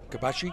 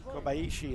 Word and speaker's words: Kobayashi: Kobashi? Kobashi, yeah, I was just trying to pronunciation. Kobayashi. Kobayashi, that's right, Kobayashi.